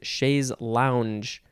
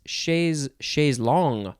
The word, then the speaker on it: chaise longue: No, it's chaise long. Aha, chaise long. Because it is spelled Longue. It's like tongue with an L, and it's pronounced long.